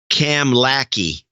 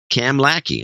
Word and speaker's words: Kamloops: It's pronounced Kamlaki, he says. Cam Lackey.